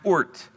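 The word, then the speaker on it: Oort: It is pronounced ORT, okay?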